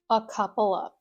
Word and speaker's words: a couple of: Sometimes you might not even hear that v sound at the end of, just a couple of.